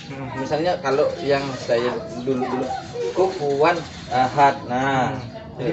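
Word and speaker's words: كفوا أحد: Di dalam Al-Quran ini kita bacanya itu mengalir santai, tenang, kecuali pada huruf huruf ini, pada huruf hamzah. Jadi tanpa kita dalam Al-Quran itu bacanya mengalir.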